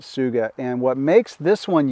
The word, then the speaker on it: Tsuga: by a company called Suga and it's spelled t-s-u-g-a but you pronounce it Suga and what makes this